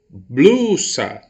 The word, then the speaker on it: blusa: mesma coisa tá bom bruxa blusa blu eu coloco mais potência vocal logo blue é a sílaba tônica da minha palavra e como a sílaba